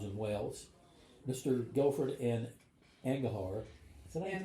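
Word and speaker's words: Angharad: Guilford and Angahar. Is that an Herod? An Herod. It's really hard to remember it. Yeah. Nothing is pronounced the way it looks.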